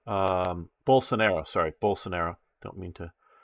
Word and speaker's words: Bolsonaro: you will, was so anti-Belisario, or however you pronounce his name, not Belisario, but I know that isn't his name. Bolsonaro, sorry, Bolsonaro.